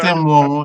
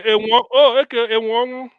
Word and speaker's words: Enwonwu: It's not M1. It's M1. It's not pronounced that way. That's not how you pronounce his name.